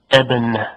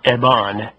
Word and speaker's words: Ebon: It's pronounced Ebon, not Ebon. Ebon.